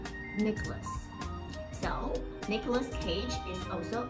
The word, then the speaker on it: Nicholas: A lot of people pronounce the letter N, but actually that is not correct. Okay? So again, that should be Nicholas.